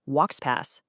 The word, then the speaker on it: Woxpas: So, let's talk about a new technology called WXPass. That's pronounced WXP pass.